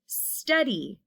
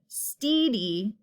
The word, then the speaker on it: steady: we can identify is steady st long sound we can't hear the steedy a long e wouldn't work it's a short e and the last word